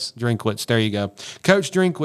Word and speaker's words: Drinkwitz: both of those guys um coach I cannot pronounce his last name. Drinkitz. Drinkwitz.